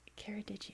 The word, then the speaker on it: Ceredigion: I've been saying it wrong forever. I feel really dumb. But now I know. Keradigian, I believe, is how you say it.